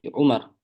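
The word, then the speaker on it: عمر: Kalau Maksudnya, ada wawunya Amr gitu ya. ya. Kalau ada wawunya berarti Amr. Kalau nggak ada wawunya berarti Umar.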